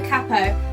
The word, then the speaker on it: capo: The first one is actually a capo. I know Americans say capo, and I have gotten used to saying it like that, but I need to start saying capo because otherwise music shop